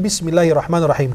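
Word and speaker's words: بسم الله الرحمن الرحيم: Maka kita bacanya Bismillahirrahmanirrahim. Huruf ra-nya dan huruf ha-nya diperjelas. Bismillahirrahmanirrahim.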